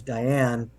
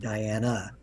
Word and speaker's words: Diane: Um, her name was Diane, and the spirit said Diana.